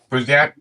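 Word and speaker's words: Bruzenak: Was that how you pronounce his name, Jimmy? Mm-hmm. Yeah, Brusnak.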